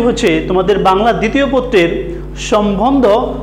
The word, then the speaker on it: সম্বন্ধ: তোমরা অনেকে এটার উচ্চারণ করো সম্বন্ধ, সম্বন্ধ না, এটার উচ্চারণ হচ্ছে সম্বন্ধ। এটার একটা নিয়ম রয়েছে তোমাদের, যে বফলা বফলা যদি মফলার সাথে শব্দের মাঝে এবং শেষে বসে তাহলে বফলার উচ্চারণটা বহাল থাকে বা বজায় থাকে, এই জন্য আমরা উচ্চারণ করছি সম্বন্ধ।